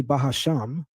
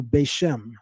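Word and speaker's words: בשם: We call it in Hebrew Beishem. Beishem. He says to call it Basham. Okay, that's better than Bahasham. I'll say that. But you still need to throw that pronunciation in the garbage because that pronunciation doesn't yield the meaning of in the name of or with the name.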